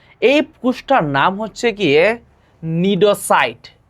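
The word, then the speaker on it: cnidocyte: এই কোষটার নাম হচ্ছে গিয়ে নিডোসাইট। এখানে সি এর উচ্চারণ হয় না, সি এর উচ্চারণ হয় না।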